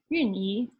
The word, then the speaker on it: Wan-Yi: And although I look more white than Chinese, you made sure that I had a Chinese first name, Wan-Yi, or in Chinese pronounced as Yun-Yi, to complement my very English surname.